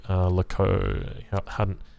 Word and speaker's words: howdah: Howdah is the correct pronunciation.